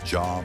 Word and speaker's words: Dia: Today we're diving into the story of Dia, pronounced Jah by the locals, a lost city of West Africa.